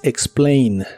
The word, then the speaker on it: explain: presente de inglés es explain la a de esta palabra se pronuncia como e explain explain algo que